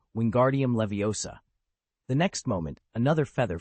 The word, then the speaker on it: Leviosa: "Besides, you mispronounced it. It's Leviosa, not Laviosa.